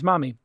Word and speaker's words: Mahmee: And the company is Mahmee, and it's phonetically spelled, because that's a great way to get a killer domain.